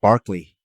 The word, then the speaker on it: Berkeley: think initially like even uc berkeley the person who's named after is actually pronounced barkley so somewhere it got changed i saw an mma